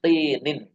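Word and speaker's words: مِنْ طِينٍ: Ya, ini cara bacanya seperti ini, Mbak ya. Min tinin. Ya. Karena dia enggak ada alifnya, enggak ada alnya apa? Kalau minat ini dia tidak tanwin, tapi kalau min tinin dia tanwin.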